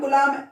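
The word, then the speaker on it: coulomb: इसमें बी जो है साइलेंट रहता है, कुलाम पढ़ते हैं।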